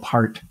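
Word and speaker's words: Pärt: occasionally a piece by arvo part or perch I think is the correct pronunciation there but miserary I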